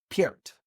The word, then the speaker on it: Peart: That is how you say it, right? It isn't Pert. Peart.